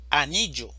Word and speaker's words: anillo: Anillo, anillo. La sílaba tónica es ni, anillo. Elefante, elefante.